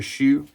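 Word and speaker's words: Choux: the perfumer is Patricia Shu not Pate Shu but shu is spelled the same way C hux um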